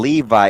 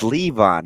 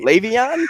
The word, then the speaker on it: Le'Veon: wounds like a crown it's not even Levi it's Levon he's just a Moran so he didn't say it right Le'Veon Shane who's my